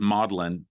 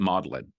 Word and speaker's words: Magdalen: and english and um he taught first at maudlin it's pronounced i mean it's written like magdalene like mary magdalene but you pronounce it modeling and so he taught at model in college